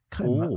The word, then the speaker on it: crème: C'est pas cream, c'est crème voilà. Avec un accent grave et tout. Ouais ouais ouais. C'est pour ça que voilà. Bon, je tiens à le prononcer à la française Nitro Draft.